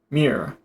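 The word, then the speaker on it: myrrh: bearing spices balm and mirror on their way to carry them down to Egypt. All right. What is that? Mirror. Pretty sure it's just one syllable.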